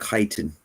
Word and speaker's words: chitin: It's pronounced chitin.